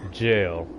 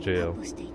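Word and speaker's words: gaol: a ghoul but it's jail it's actually pronounced jail I'm pretty sure they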